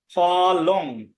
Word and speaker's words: ফলং: যেমন ফলং, যদি শব্দের মধ্যে থাকে ফলং তাহলে উচ্চারণ হবে ফলম। জলং এর উচ্চারণ হবে জলম। ফলং হবে না, ফলম। জলং হবে না, জলম।